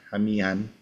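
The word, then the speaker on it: qamihan: Tapi sebenarnya untuk Proto Melayu Polinesianya kita punya nama, punya kata hamian. Q itu dibacanya agak ha gitu ya.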